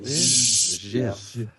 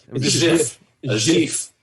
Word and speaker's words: GIF: That's GIF for me because that's just. I remember when I like that soft G. It's more sensual. GIF. GIF. Yeah, that's the only correct one.